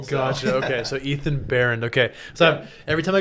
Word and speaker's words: Baehrend: spell b-a-e-h-r-e-n-d but pronounced Behrend Baron okay you don't really say the bay and all that then you throw the H in there and it confuses people gotcha okay so Ethan Baron okay so every time